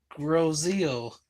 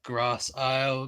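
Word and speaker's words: Grosse Ile: stuff like that but up here we call it grosseo um some people call it grass Isle gross aisle um but the original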